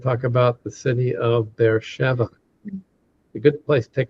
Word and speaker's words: Beersheba: It's because that's the way the Americans pronounce it. Yeah, Beersheba. Yeah. Yeah. It's pronounced Beersheba.